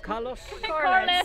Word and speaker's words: Carlos: We have Ola and Nash, and I can never pronounce Carlos. Carlos. There you go. You have to do it in a Scottish accent, what I can't do.